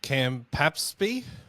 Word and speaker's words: Campaspe: We've got Campaspe, which I can barely pronounce. I have no idea where it is. Campaspe, is it? Yeah, 2 P's. 2 P's. Unusual. Campaspe. And a P following an S.